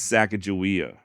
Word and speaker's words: Sacagawea: Sacagawea being Shoshone, and modern-day Shoshone do say her name as Sacagawea.